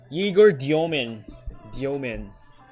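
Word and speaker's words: Egor Demin: Let me recheck his pronunciation lang real quick. Yegor Diomen.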